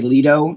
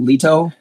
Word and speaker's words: Lito: always a problem uh most people in the United States do a soft tea so they say Leto instead of Leto right okay I I